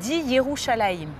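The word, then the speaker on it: ירושלים: Yes In Hebrew, "Jerusalem" is pronounced: "Yerushalayim"; so quite simply, for me Jerusalem translates to the "City of Peace" As we say in Hebrew: "ככה ככה" So-So?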